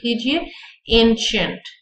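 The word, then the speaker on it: ancient: एज यानी ओल्ड, न्यू, एंशंट। ठीक है, एंशंट का मतलब भी होता है पुराना, इसकी प्रोनाउंसिएशन सीख लीजिए, एंशंट।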